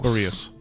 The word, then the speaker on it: Ba'reos: how did they pronounce my name in the Feywild again? Barrios.